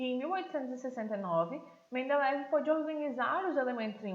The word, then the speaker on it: Mendeleev: Dmitri Mendeleev, ou Mendeleev, que algumas pessoas pronunciam seu sobrenome assim, foi um professor universitário da Rússia e ele estava escrevendo um livro de química.